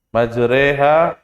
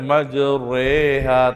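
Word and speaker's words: مجراها: apa surat hud 41 ya majreha jadi bacanya nggak boleh maju reha tapi tipis kalau bisa dipahami saya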